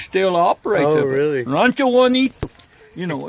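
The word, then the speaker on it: Bonito: Rancho Juanito. You know, it's, of course, Juanito is spelled B-O-N-I-T-O, you know, and Mexican, you know, and all.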